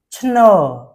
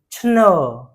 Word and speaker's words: ឈ្ន: Chno. We pronounce it chno.